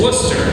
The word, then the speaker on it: Worcester: David Wor, his major distinction is if you wondered how to pronounce the town that looks like it's spelled Forcester, that's how you do it. It's Worcester in Massachusetts born in England.